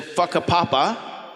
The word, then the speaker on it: Whakapapa: the well in uh Maori w h a is pronounced like f so it was in whakapapa yeah right that's it